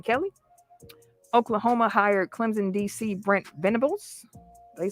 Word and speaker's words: Venables: he's replacing brian kelly oklahoma hired clemson d.c brent venables they say his name venables as head coach to replace lincoln riley miami